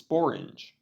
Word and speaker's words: sporange: An old word for sporangium is sporange, which happens to be the only English word to rhyme with orange.